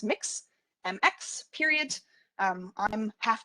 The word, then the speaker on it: Mx: uh yes that is it's pronounced mix mx period um i'm